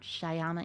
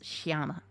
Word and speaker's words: shama: but you're shyama shama it's frustrating trying to pronounce it but it's definitely not shyama it's shama I've had a lot